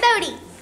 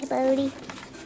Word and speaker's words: Bodhi: Hey, Bodhi. Hi. Hi. Oh, it's B-O-D-H-I. But it's spelled like Bo, which is B-E-A-U.